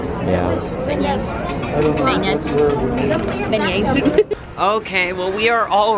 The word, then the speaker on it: beignets: Beignets.